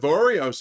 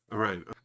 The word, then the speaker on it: Orion: After complimenting the hell out of Oreos, oh no, wait, I'm saying it wrong. What is it? Orion.